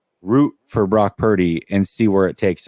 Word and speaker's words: Purdy: Brock Purdy. Yeah. Yeah. It rhymes with turdy.